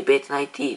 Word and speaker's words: VAT19: っていう、VAT19 って書いてベッドナイティーって読むんですけど